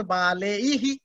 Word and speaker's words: बालैः: Because here it is eihi, so you have to sound baleihi.